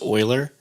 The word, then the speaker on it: Euler: This is actually pronounced Euler. but it's spelled Euler, and I just want everyone to not be confused.